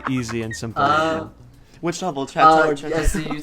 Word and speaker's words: Chateau: I pronounce this right, Chet2. Oh my god. Chanterelle. Oh my god, I see. Oh, Chet2. oh my god, stop. Stop. You pronounce it, Chateau. The word is Chateau.